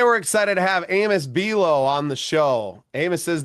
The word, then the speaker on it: Buelow: And I appreciate you saying my name so well, too, with the pronunciation. You really drove it home with just like the cookie.